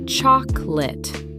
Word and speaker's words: chocolate: Only 2 syllables in natural speech. Pronounced chocolate.